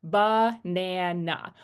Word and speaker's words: banana: So, even though it's an a, we don't say banana or I can't even pronounce it with the short a, right? We have the h sound there. banana.